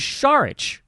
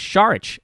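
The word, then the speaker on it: Saric: not 100% certain, that, that's right, it was Sharich. Almost forgot. Seth and I had a coupon code out from our last show a month back. The coupon code is Sharich, S-A-R-I-C.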